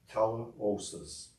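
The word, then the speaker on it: τελείωσις: The Greek translation, as used here, is pronounced teleosis, and it means the following: a fulfillment of, an accomplishment of, the event which verifies a promise.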